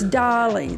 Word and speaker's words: Dali: It's like the artist Salvador Dolly. Okay, there you go. It's Dolly.